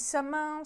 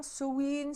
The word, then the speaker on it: Samhain: Donc, vous choisissez la prononciation que vous préférez. Certains disent Samin, Sowin, Samhain.